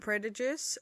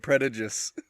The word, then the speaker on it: prejudice: you say it yeah you said predators how do you say it prejudice prejudice you mixed up the d and the j oh right pride and